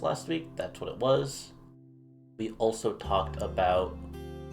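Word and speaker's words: は: week, that's what it was. We also talked about the particle ha, which is pronounced, in this case, as wa, specifically when we connect it to two nouns.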